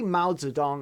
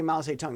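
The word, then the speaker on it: Mao Zedong: very mouths of dong it's very mouths a tongue mouths of dong is is it's how you say his name in Chinese if you say mouths a tongue the only has any clue you're talking about over here so you've got si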